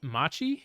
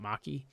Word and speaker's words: Machi: keep a leap I'm Machi I think is how you pronounce that it's not Maki I'm a kikui you